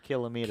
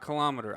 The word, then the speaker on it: kilometer: millimeters good centimeters good but then you go up from there and people start changing the emphasis on the wrong syllable ah yes millimeter centimeter kilometer kilometer not kilometer i hate that it's